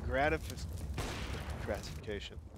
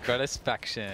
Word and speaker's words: Gratisfaction: We've seen Complexity Molotov that white box almost every single time in gratification. Son of a... Gratisfaction. Gratisfaction, why? Think about satisfaction.